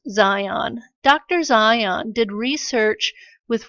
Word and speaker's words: Zajonc: Bob Zajonc-- yes I know it looks like Zay Junk but his name is pronounced "Zion" Dr.